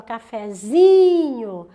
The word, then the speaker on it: cafezinho: oxítona terminada em é quando eu faço cafezinho a sílaba tônica se você colocar tudo junto aqui a sílaba tônica não é mais no fé é nos 12 porque não falo não um cafezinho eu falo cafezinho A então use é mais forte Então agora eu te